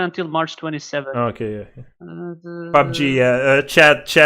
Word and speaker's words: PUBG: PUBG, Player Unknown Battleground. PUBG. That's how it's pronounced.